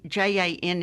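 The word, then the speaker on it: Janne: cooking and coping I I suppose you pronounce it Jan j j a n NE e say okay yeah Jan okay so saren that's correct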